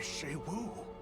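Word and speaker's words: Xu Wu: They claim he was taken by Shei-Wu. Oh, that's how you pronounce it. And from the midst of our village, no less. Shei-Wu.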